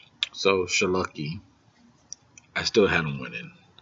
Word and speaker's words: Sulecki: Now, even though I pronounced his name Sulecki, but HBO commentators is saying, if you know Polish names, there's always like a silent N in a lot of their names.